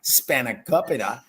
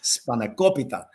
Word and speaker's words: spanakopita: so many other people's pronunciation of spanakopita is now like spot on. It's not spanakopita, it's spanakopita. And both of you are saying it in a way that my grandmother would turn her head.